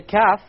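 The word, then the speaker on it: كاف: Now notice the Kaf, you're using the part of the tongue which follows the Qaf, right after the Qaf. And you connect this area with the hard palate. Notice now, look, Kaf, which is slightly higher than the Qaf.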